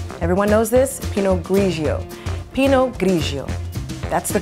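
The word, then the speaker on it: Pinot grigio: Pee-noe grigio. That's the correct pronunciation.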